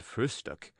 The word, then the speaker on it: frühstück: word breakfast, but always call it frühstück, with especial emphasis on the first syllable.